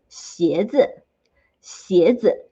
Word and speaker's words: 鞋子: Shoes in Mandarin, it is 鞋子，鞋子. Or in short, you can also say 鞋。鞋, one syllable is all you need.